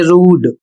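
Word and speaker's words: rude: जबकि इसका उच्चारण होना चाहिए रूढ़। क्योंकि यहां पर बड़ा उ की मात्रा का उच्चारण करना है।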